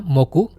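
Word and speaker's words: 木: Onyominya moku, kunyominya ki.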